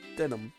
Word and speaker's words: Denham: Yeah, I never did figure out how to pronounce it right. Maurice Denham. I mean, I heard people call it Denham, but I guess I'll follow it. That's denim, Larice.